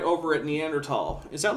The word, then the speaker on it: Neanderthal: is in France and the word Neanderthal ultimately derives from French and so it should be pronounced in the French way if you want to be super correct but here's the thing if you're a native English speaker and you want to pronounce that th with a with us I whatever that's fine but you would think a